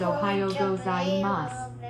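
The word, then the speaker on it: おはようございます: Pronounce it as Ohio gozaimasu, with the letter U silent.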